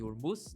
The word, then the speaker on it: Hormuz: E hoje de manhã, né, saiu que o Irã provavelmente ele iria fechar o canal lá de Hormuz, né? O nome, a pronúncia correta seria essa.